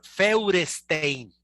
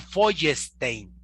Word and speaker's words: Feuerstein: Se llama, se escribe, así se escribe, se lo voy a pronunciar como escribe, es Feuerstein. Feuerstein. Los allegados cercanos dicen que se pronuncia Feuerstein.